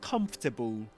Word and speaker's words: comfortable: I meant do you feel more comfortable now about sharing with me your secret about Merrila's parents and and Yep. Yep. Yep. Yep. So, so look at this word guys. Comfortable. Comfortable. Just three syllables.